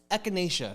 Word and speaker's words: echinacea: And if you're sick, take echinacea. I don't know how exactly. Echinacea. Oh, is that how you pronounce Yes. it? How do you pronounce it? Echinacea.